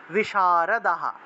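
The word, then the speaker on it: বিশারদাঃ: প্রহরণাহ survey survey যুদ্ধ বিশারদাহ হা উচ্চারণ হবে বিসর্গ থাকলে হ উচ্চারণ আর আগের অক্ষরের সাথে আকার থাকে আকারটা যুক্ত হবে তাহলে সর্বে যুদ্ধ বিশারদাহা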